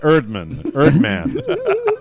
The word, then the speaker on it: Erdman: Any advice for her on dealing with a last name that rhymes with Turd Man? Well, from her loving fiance, which rhymes with Beyonce, Todd Erdman.